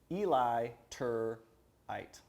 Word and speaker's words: Eliturite: if they're not l-i-t-u-r-i-t-e Eli tur height yes illiterate so illiterate is who now